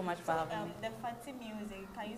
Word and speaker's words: Fatimusiq: It's Fatty Music. You can stream my song on all musical platforms. And you can follow me on YouTube, okay. Fatty Music.